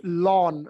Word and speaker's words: ln: right it's to be pronounced Lon as in your your lawn right your garden lawn right it's pronounced that